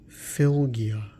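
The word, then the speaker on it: fylgja: It's pronounced filia.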